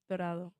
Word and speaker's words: Dorado: So I'm trying to say you've been helping me on how to say the town in Puerto Rico where you're from, Dorado? Dorado.